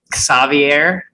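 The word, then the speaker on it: Ksawery: which i talked to let's see if i say this way savier i think that's how he told me to pronounce it mashuk today sucks the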